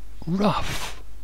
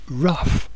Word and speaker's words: rough: Oxen pull it plow the fourth one is AF is for rough or rough phonetically the wind is